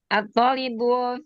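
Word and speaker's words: الطالب: At-thalibu fil jami'ati. Baik. At-thalibu fil jami'ati. Ya, tolibnya dipanjangkan pengucapannya. At-thalib. At-thalibu fil jami'ati.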